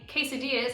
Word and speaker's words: quesadilla: Also, been saying quesadillas and tortillas wrong my whole life. I was pronouncing them with L's when I lived in Australia.